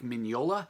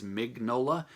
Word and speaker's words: Mignola: named Mike Mignola, and yes, that is how you say his last name. I say that because in my mind all these years I've been thinking his last name, or I've just been pronouncing it at least, as Mignola, which is totally wrong.